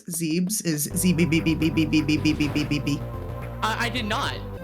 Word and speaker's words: Zebes: Did you know that the proper way to pronounce Zebes is zb?